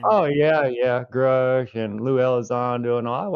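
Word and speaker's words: Grusch: Is that how you pronounce his name? Oh yeah, yeah, Grush and Lou Elizondo and all.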